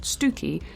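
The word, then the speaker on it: Stiffkey: seeking stiff key incidentally there is a small village in Norfolk not far from where I grew up called stiff key only we pronounce it stooky which is Thoroughly confusing but also rather pleasing on the tongue is that his motivations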